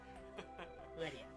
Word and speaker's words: Ledian: If it was more metallic, then I could see it being lead. Ledian, you know?